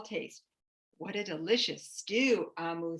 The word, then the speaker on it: Omu: you thank you amo by ogemora omu is pronounced amu it's the igloo igbo term for queen on